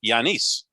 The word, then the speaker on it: Giannis: his last name it's giannis to me and i or as my good friend john serenitis told me the correct pronunciation in greek is yanis so that's what i